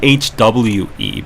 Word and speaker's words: hoe: So, Ho is pronounced in Korean H. It's more like HWE.